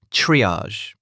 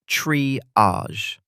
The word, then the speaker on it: triage: Today's word, triage. It comes from French, so the pronunciation is unusual. Triage. The second syllable sounds like the S in measure.